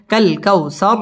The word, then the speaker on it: الكوثر: ইন্না আ'তাইনাকাল কাউ, ওয়াও ঠোঁট গোল করে উচ্চারণ করতে হবে। কাউ জবরের বাম পাশে জাজম আলাইয়া, ওয়াও লিনের হরফ তাড়াতাড়ি পড়তে হবে। কাল কাউসার র পুর হবে এবং ওয়াকফ করতে হবে।